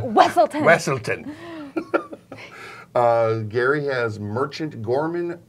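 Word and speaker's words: Weselton: like Tinkle Pants, so that every time someone pronounces it wrong, he's like, no, it's Tinkle Pants. It's like from Frozen. The Weaselton, and he's like, Wesselton.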